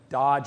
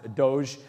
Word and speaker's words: Doge: Dodge meme, it's actually, I looked it up how to say it, and I've seen a lot of different things, but I think Dodge or Doge meme.